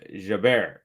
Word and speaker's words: Jabeur: Now you're saying, actually, my husband is Tunisian and it's pronounced Jaber.